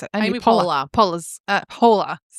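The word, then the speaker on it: Poehler: Amy Pola Pola's uh polar like a polar bear.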